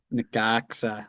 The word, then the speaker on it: Necaxa: Necaxa. That's right. We know how to pronounce that now.